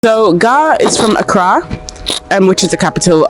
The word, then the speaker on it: Accra: so gar is from accra and which is the capital of uh ghana it's not akra for all you people trying to bastardize the pronunciation of the name is accra just god we got that